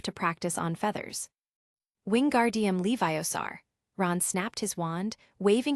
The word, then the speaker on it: Leviosa: "It's Leviosa, not Leviosaar. Make the gar nice and long."